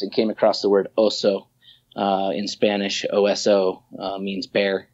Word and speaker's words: Ozo: The next morning, woke up and thought Ozo with a Z so that the people could pronounce it. And it still remains this kind of elusive word that doesn't really tie to anything. So yeah, the next day I was like, Ozo, that's what it is. Ozo. O-Z-O.